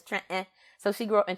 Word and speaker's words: Trenton: Jersey uh in in in Philly we say Trenton right we leave the tea out and it's Trenton so she grew up